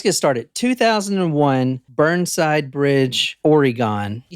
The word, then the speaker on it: Oregon: started 2001 Burnside Bridge Oregon you said that's so weird okay go ahead I said it how it's pronounced Oregon Oregon we're going to Portland